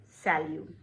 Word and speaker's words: salut: T is silent here, salut.